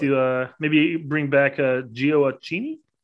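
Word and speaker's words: Gioacchini: maybe bring back uh geo accini they say that right giorgini yeah you did but since giocini's moved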